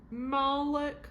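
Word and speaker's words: Malek: condemned their souls to Malik believe that's how you say it mik m a l e kes. Malik yeah Malik and we're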